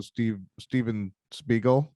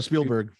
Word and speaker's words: Spielberg: Like that's how Steven Spiegel, is that what his name? Spielberg. Yeah, you butchered that.